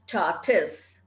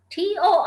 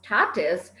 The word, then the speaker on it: tortoise: i'll tell you all the pronunciation is tortus t-o-r-t-o-i-s-e is pronounced tatus and not tortoise now we cannot go